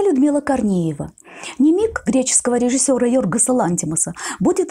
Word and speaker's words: nimic: Ставшее названием фильма слово «немиг», именно с ударением на втором «и», румынского происхождения.